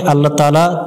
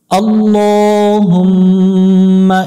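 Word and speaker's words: الله: ল এজন্যই বললাম এটাকে আল্লাহ শব্দ বলে আল্লাহ শব্দের ডানে জবর হলে আল্লাহ শব্দের লামকে করে পড়তে হবে অর্থাৎ ল পড়তে হবে লা পড়া যাবে না এবং লামের উপর খারা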